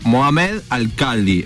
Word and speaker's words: Mohammed Alkhaldi: él se llama, a ver si lo estoy pronuncio bien, Mohamed Alcaldi.